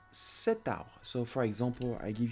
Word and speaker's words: cet arbre: use ce arbre, because in French language we seldom have two vowels in front of each other because of the pronunciation would be very hard. Ce arbre. No, so here we have to add a T because it's a masculine word and starting with a vowel. Cet arbre.